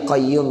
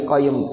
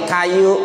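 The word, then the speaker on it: قيوم: Orang dikasih amalan cuma ya hayyu ya qayyum, ya hayyu ya qayyum. Akhirnya bacanya salah, ya kayu, ya hayyu juga bilang ya kayu.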